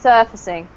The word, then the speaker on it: surfacing: Yeah, surfacing. Okay. And then this one, just sorry. So the stress at the first syllable, right? yes, surfacing.